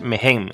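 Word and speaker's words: Mehen: Se pronuncian casi iguales, Men y el otro es Megen. Es una H intercalada, pero la H se pronuncia como una J en egipcio, sí, exacto.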